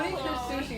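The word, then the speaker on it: Kunikuzushi: Looking back, the existence of what once called itself Kunikazushi appears infinitely small. Kunikazushi is how you say your name.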